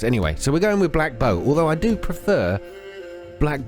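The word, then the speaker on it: Blackbough: Baron in Black Bow, I think it's pronounced. I mean, it's hard to tell, right? O-U-G-H. We're here in the world map, right? O-U-G-H. It says Black Bow. I think that's how it's pronounced.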